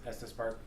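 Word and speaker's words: Estes Park: you're going have help me out here it's pronounced Estus Estus Park EST yeah it's it's just outside of the town of Estus Park in Estus Valley um now what's interesting about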